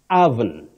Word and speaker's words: oven: You don't pronounce it the way it is spelled. You say oven. Oven. The O at the beginning takes the mid-central sound Oven.